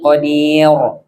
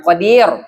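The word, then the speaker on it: قدير: Coba kalau dia fasih baca Qurannya kita wahua ala kulliin qodir. Bukan qadir. Qadir. Qadir. Jangan monyong tuh.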